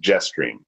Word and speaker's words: JSTRM: For example, the JSTRM waypoint would be pronounced Jetstream.